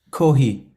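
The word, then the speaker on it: Kohei: Is it Kohey. Kohey or Kohey? Kohey. Okay. Hideful, you there, mate? Can you play the ending? It's Kohey.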